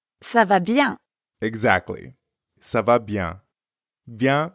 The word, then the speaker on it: bien: So, ça va bien means it's going well. That's right. Ça va bien. Comment ça va, Estelle? Ça va bien. You might have noticed that bien also has a nasal sound.